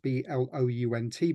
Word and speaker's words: Blount: named Edward blunt um his name is spelled Blount b l u n t but we're informed it was pronounced blunt there were lots of